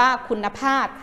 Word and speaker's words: คุณภาพ: ว่า คุณภาพ อ่าน ว่า คุณภาพ คุณภาพ อ่าน ว่า คุณภาพ ผ้า นะ คะ ใช้ พ พาน เป็น ตัว สะกด นะ คะ แล้ว ก็ เปลี่ยน ทำ อ่าน ไป เป็น บ่อ ใบ ไม้ เพราะ ทำ ทั้ง หมด